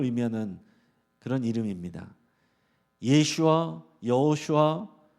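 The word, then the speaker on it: ישוע: 예수라 하라 지정해 줬습니다 예수 이게 히브리식 발음하면 예슈아 예슈아 한번 따라해 보겠습니다 예슈아이 예아라 이름은 그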